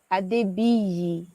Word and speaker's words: Adebiyi: It's pronounced Adebiyi. So Oh, you there's you no you got I. the what? So it's Adebi. Adebiyi. Yes. Adebi.